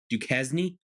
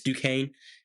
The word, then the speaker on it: Duquesne: Now, some of you might think you pronounce that Duquesne. No, it's Duquesne, and they're not going to win.